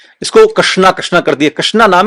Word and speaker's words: कृष्ण: आप समझने का प्रयास करें, जो अक्षर है, जो नाम है, वो है कृष्ण। सही तरीके से शुद्ध उच्चारण कृष्ण का नाम भी नहीं बोल पाते।